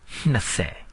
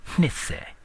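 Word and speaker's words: နှစ်ဆယ်: is pronounced by linking the word for 2, hne, and 10, se, but you don't say hnise, you say hnase. So let's try this. 20, hnase. 20, hnase. One more time. 20, hnase.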